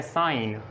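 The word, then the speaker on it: sign: आप देखें एन से पहले जी साइलेंट है, इसको हम पढ़ते हैं साइन, रिज़ाइन, डिज़ाइन, line, campaign, चैंपेन और क्लोन और असाइन।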